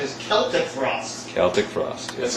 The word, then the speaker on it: Celtic Frost: as the correct pronunciation is celtic for us celtic frost that's how we pronounce it you know as long as people